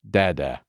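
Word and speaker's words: დედა: And mother in Georgian is pronounced dada.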